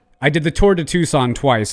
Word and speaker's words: Tucson: in a group setting you say it like tuxen no it's it's tucson it is not tuxen it is tucson i've